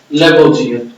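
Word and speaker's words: Lavoisier: तो कहता है एंटोनी, प्रोनाउंस करने के लिए सीखेगा Antony लूरंट लेबोजियर। Antony लूरंट लेबोजियर, father of chemistry कौन था?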